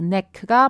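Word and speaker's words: knack: 자, 여기에선 여러분들 K가 묵음 처리됩니다. neck가 바로 타고난 재능도 가능하고요.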